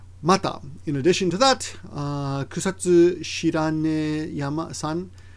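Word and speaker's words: 草津白根山: Mata, in addition to that, Kusatsu Shiranesan, I said yama, but this is a proper noun, so the pronunciation will differ depending, even Japanese won't know until you tell them, right?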